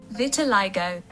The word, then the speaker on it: Vitiligo: this word before recording vitalo vitalo how to pronounce vitalo Vitiligo vitalo okay learning something new today uh so